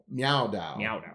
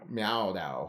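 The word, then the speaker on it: Miao Dao: So it is the Dragon King Meow Dao. Meow Dao. That's how you say it exactly.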